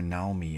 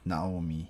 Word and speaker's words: Naomi: Naomi always Naomi, yeah, it's Naomi, yeah. I think it's low high low from what I remember. I've been using high high low.